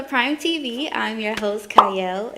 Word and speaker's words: Qiayel: I'm your host, Qiayel. It starts with a Q, but it is pronounced Qiayel.